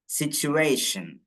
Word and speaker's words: situation: സിറ്റുവേഷൻ. സിറ്റുവേഷൻ. സിറ്റുവേഷൻ. സിറ്റുവേഷൻ. സിറ്റുവേഷൻ. First ഉച്ചാരണം എന്താ വരുന്നത്? ച്. സിറ്റുവേഷൻ. ടി യു എന്നുള്ള ഭാഗത്ത് ചു എന്ന് വായിക്കും.